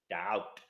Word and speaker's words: doubt: slide doubt okay doubt doubt okay the um students the B is silent the B is silent